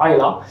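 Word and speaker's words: Islay: l'île d'aile en fait qui se prononce d’ailleurs politiquement Aya et pour cause puisque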